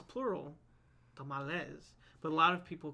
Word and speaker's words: tamal: There was always red chili and tamales, or tamales, depending on how you say it. But well, the correct way is tamal, right? Well, if you want one, it's a tamal.